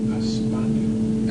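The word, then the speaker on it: España: In Spain, they pronounce the country Espana.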